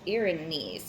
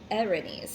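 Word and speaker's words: Erinyes: So the earrings, pronounced Irenaeus, okay, Irenaeus is how it's said.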